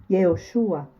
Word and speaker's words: Yehoshua: Neste verso, Deus fala de Josué em hebraico, Yehoshua, que significa Deus Salvador, ou Deus salva.